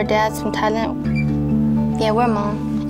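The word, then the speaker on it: Hmong: from Thailand yeah we're Mom it's h m o n g but the age is silent I think I'm like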